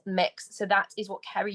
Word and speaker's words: Mx: quickly on the titles the one for non-binary is mx which is pronounced mix so that is what